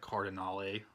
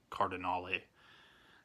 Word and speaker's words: Cardinale: the murderer of Claudia Cardinale. I thought it was Cardinal all these years, and I heard them pronounce Cardinale, and so that's, I guess, what it is.